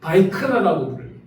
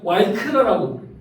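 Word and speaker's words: ויקרא: 우리 남 이스라엘과 북 이스라엘은 조금 발음이 다릅니다. 남 이스라엘에서는 바이크라고 부스라엘에서는 와이크라고 부은 단어로 히브리어를 쓰고 있는데 그가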